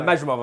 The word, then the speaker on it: Madrimov: No, Madrimov, I think, is the way you'd say it.